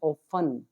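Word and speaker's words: often: अक्सर मतलब होता है ऑफ इसमें टी हमारा साइलेंट है इसको बोलेंगे ऑफ तो दे ऑफें कम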